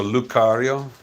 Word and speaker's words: Lucario: Oh, the C is pronounced as a K, so Lucario.